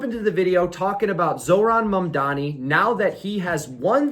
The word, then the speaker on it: Zohran Mamdani: we are once again going to talk about Zohran Mamdani, and I do believe I'm saying his name correctly this time. Zohran Mamdani.